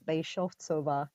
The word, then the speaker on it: Beshovkova: It's a Czech surname, and it's pronounced as Beshovcova. Beshovkova. Okay, see, Yeah. it's the ch sound at the end.